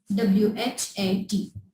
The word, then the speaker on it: what: H when comes after W. H जब W के बाद आता है तो ये हमारे पास साइलेंट होता है. इसको हम प्रोनाउंस नहीं करते लेकिन इसको हम लिखते हैं. Like what? WHAT. Watched? No, it's wrong. It's not watched. It's what. Right?